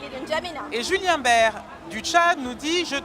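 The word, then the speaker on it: Baer: Il s'appelle Ah oui? Bert, mais ça s'écrit B-A-E-R.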